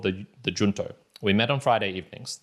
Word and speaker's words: Junto: the first one is the junto or perhaps it is better pronounced the junto because in junto in Spanish means together and so I'm going